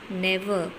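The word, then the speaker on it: ne'er: This is short of never. You will pronounce it as never.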